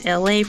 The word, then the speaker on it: Elay: My name is Elay, pronounced like Elay, like the city.